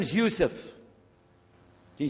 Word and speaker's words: Yusuf: la my name is Yousef can you say Yousef who say Yousef you're very good I wish